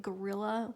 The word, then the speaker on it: guerrilla: in the world like gorilla like the animal it's well gorilla it turned out it's spelled g-u-e-r-i-l-l-a and as soon as